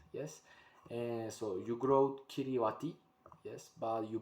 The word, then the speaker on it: Kiribati: interesting thing is that the current way to pronounce the the world of this country is kirivas yes and so you grow kiriwati yes but you pronounce it and it's really